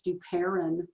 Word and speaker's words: Duperon: You know what, I gotta have you say my name right. It's Duperon.